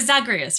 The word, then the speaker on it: Zagreus: I haven't played this in a while, but Zagreus, right? That's his name, Zagreus.